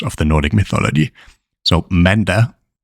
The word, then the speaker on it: mandag: Let's go through each one of them and pronounce them very slowly. First up is mandag, mandag.